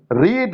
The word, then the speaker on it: read: रीड, रेड, रेड पढ़ा जाता है इसको रेड, लेकिन इसका स्पेलिंग रीड ही होता है, READ ही होगा।